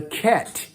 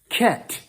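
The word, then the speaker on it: חית: what they call the ket okay ket what's pronunciation it's a like kite it's a ch sound okay so that's the sound of it i i probably forgot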